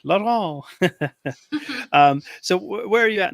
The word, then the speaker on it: Laurent: And I actually didn't get the correct pronunciation of your last name. Is it Laurent or Laurent? Laurent, yeah.